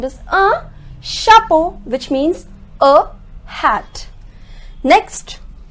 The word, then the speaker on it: chapeau: the sound of Oh so you can say the sound of O is also oh and the sound of